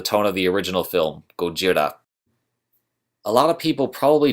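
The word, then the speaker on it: ゴジラ: of the original film Gojira a lot of people probably don't know this but the original Godzilla film or Gojira as I said earlier as it's pronounced in Japan was a much darker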